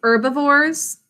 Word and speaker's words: herbivores: herbivores carnivores and omnivores can you say herbivores silent h there herbivores eat only plants